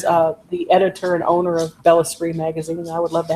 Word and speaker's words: Bellesprit: It's spelled BELLESPRIT, like El Sprit. Yeah. It's not spirit. No, spell it again. BELLESPRIT, Bella Spree magazine, or Google it and it'll come up too.